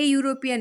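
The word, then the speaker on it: European: यहाँ पर होगा ए यूरोपियन एक्सपर्ट. ए इसलिए लगा है क्योंकि ई का उच्चारण य है और य वाला साउंड भावेल साउंड में नहीं है, सो इट विल बी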